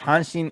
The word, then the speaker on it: Hanshin: so the tigers are the hansen tigers and hanshin is actually is actually the name of the